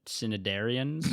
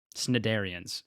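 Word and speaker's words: Cnidarians: I think uh corals are cinidarian cin cinidarians. I don't know how to the word is spelled cn. There's no vowel in between them. It's c n i darian. Okay. Snidarians.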